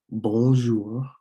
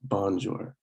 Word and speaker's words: bonjour: most common um, introductions, excuse me, would be bonjour. So it's not bonjour. It may look like you want to pronounce it bonjour, but it is bonjour, which means hello, good morning, and even good afternoon.